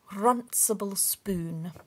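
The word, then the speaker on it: runcible spoon: run simple spoon oh you have to roll your eyes if you're going to say it properly runsable spoon there we go and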